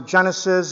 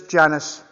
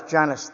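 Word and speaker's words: Genius: know the other day I was pronouncing a Genesis it's genus it is uh G e n i u s Janice this one I think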